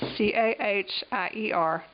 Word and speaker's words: Cahier: That's C-A-H-I-E-R, pronounced Cahier.